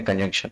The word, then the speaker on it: conjunction: जानते हैं तो कंजक्शन नहीं कंजंक्शन इनका प्रोनाउंसिएशन करते हैं, ठीक है।